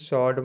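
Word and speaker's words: sword: W silent रहता है एस डब्लू ओ आर डी सर्ड मतलब तलवार टी डब्लू ओटू मतलब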